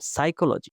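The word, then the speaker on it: psychology: 2 হচ্ছে সাইলেন্ট ওয়ার্ডস, যেমন examples, doubt, এই বিটা এখানে সাইলেন্ট, রিসিট, এই পিটা এখানে সাইলেন্ট, সাইকোলজি, ওকে, সাইকোলজি, এখানে এই যে পিটা সাইলেন্ট, নলেজের এখানে কে হচ্ছে সাইলেন্ট, তারপর হচ্ছে আইল্যান্ডের এসটা হচ্ছে সাইলেন্ট, এরকম আর কি।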